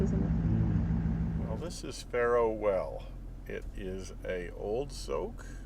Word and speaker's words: Pharaoh Well: And Pharaoh Well. Pharaohs Well. No, Pharaoh, not an S.